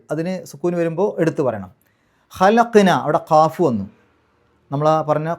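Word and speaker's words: خَلَقْنَا: ഖലഖ്, ഖ് എന്നുള്ള ശബ്ദം പുറത്തേക്ക് കേൾക്കണം. ഖലഖ്നൽ ഇൻസാന, അവിടെ നോക്കൂ, ഖലഖ്ന എന്ന് ശരിക്കും അവിടെ 2 ഹർക്കത്തിൻ്റെ ദൈർഘ്യം നീട്ടാനുണ്ട്, ഖലഖ്ന.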